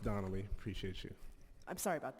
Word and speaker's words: Danelli: It's pronounced Donnelly.